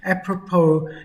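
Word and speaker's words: apropos: Appropo your attitude with that funny silent s on the end.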